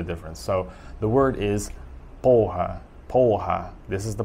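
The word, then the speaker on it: porra: so the word is poha this is the pronunciation in brazil obviously because they don't um they don't pronounce the r sounds like they do in portugal which would be like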